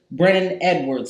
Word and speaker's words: Brennon Edwards: I have the one and only Brennon Edwards here.